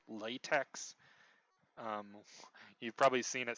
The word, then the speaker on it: LaTeX: You've probably seen it spelled latex. Um, you've probably seen it spelled like you usually see it written like this: capital L A, capital T E, capital X.